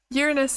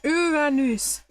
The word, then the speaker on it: Uranus: Uranus in Latin would actually pronounce Uranus. Uranus. That's cool. I like that. We never studied Latin at school, but that's interesting. It's strange because I know my parents' generation absolutely did study Latin at school, but at some point they decided it wasn't necessary anymore and they completely stopped it. Your preferred pronunciation is Uranus, not the common funny Uranus, yeah.